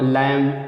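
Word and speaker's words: lamb: तो आगे देखते हैं, बी से पहले यम आए दोस्तों तब भी बी साइलेंट रहेगा। जैसे क्लाइम, ठीक है, बी से पहले यम आए या यम के बाद भी आए, बात है क्यों। तो जैसे क्लाइम पढ़ते हैं, क्लाइम नहीं पढ़ते, क्रम, टम, लैम, थम, बम।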